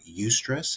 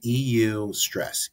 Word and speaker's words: eustress: then we talked about UST stress have you ever heard of that before no UST stress is EU stress eustress that's how I pronounce it someone smarter than